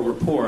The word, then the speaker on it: Colbert Report: Tyson has been a frequent guest on the Colbert Report, or rapport, I guess is the proper pronunciation.